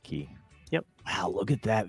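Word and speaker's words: Cay: whatever it's spelled k but it's pronounced key yep wow look at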